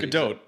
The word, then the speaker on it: Gadot: How do you say it? It's Gadot, yeah.